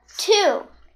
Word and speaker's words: two: and e good job two there's a silent letter in the middle t e no